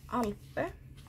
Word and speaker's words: Alpe: And next is Alpe, or Alp, or whatever you feel like trying to pronounce it. I would say Alpe since it's a Swedish brand and it's more of a Swedish pronunciation.